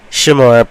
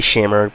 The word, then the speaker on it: Shamar: Shamar, but people call me Shamer, but you could call me Shamer.